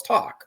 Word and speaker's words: TOC: right and Talon go do I pronounce it to or is it talk you go well it's talk like speaking he's like oh okay